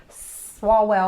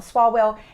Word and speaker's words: Swalwell: these crazies like shifts swallow well I always say his name wrong swalwell and Omar I hope